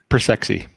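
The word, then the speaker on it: Persci: to pronounce it but i would say persi the drive manufacturer does that sound right or is it persky it's uh persexy okay how do you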